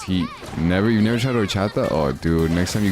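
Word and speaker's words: horchata: It's spelled with an H like orchata but the H is silent so it's orchata.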